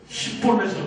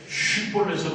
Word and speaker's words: 쉽볼렛: 그 성경에 보면 에브라임 사람들은 어떻게 발음한다고? 십볼렛으로 발음한다는 거죠. 원래는 뭐라고 발음해야 돼? 쉽볼렛으로 발음.